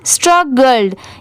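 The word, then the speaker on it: struggled: गया STRUG स्ट्रग, और GLED इसे क्या पढ़ेंगे गर्ल्ड, यहाँ पर इसकी साउंड ग्लैड नहीं पढ़ेंगे गर्ल्ड, अब दोनों मिला देंगे तो क्या हो जाएगा स्ट्रगल्ड, ठीक है।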